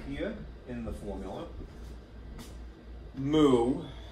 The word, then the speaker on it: mu: Mu, which is pronounced essentially mu, mu.